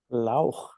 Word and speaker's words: Lauch: Lauch, did I pronounce that correctly? Lauch.